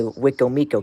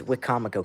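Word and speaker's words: Wicomico: And going to the Eastern Shore in Wakefield's area, you don't say Wikcomo County like WXK97. It's Wikamico County. That's how it's said. Wikcomamo, not Wik Miko. Wikcomamo. That's how it is said.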